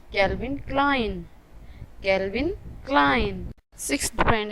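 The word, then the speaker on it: Calvin Klein: इसे अक्सर लोग गलत कहते हैं, इसे ज़्यादातर लोग कैल्विन क्लीन या कैल्विन क्लेन कहते हैं, लेकिन इसकी सही प्रोनाउंसिएशन है कैल्विन क्लाइन।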